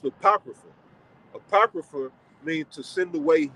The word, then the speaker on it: Apocrypha: supposed to be there right so that's that's pronounced the Apocrypha apocrypha mean to send away hidden all right